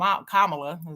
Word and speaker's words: Kamala: talk about Kamala Kam kamla is her name that's how you say it kamla people calling her